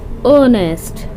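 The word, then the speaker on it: honest: है लेकिन हम इसको रीड कैसे करते हैं ऑनेस्ट ओ क्या है चावल है ओके साइलेंट हो जाता है अब देखिए मैच क्या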